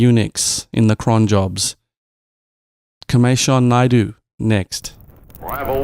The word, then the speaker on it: Kimeshan: It's about 90% right. It's Kimeshan Naidoo. Yeah. Kimeshan? Yeah. Kimeshan? Yeah, so like the A is like an I in the end.